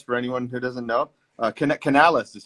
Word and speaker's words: Canales: Canales is how it's pronounced, right?